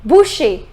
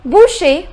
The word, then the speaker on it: boucher: who sells meat okay what is a butcher Boucher the pronunciation is Boucher the next rule which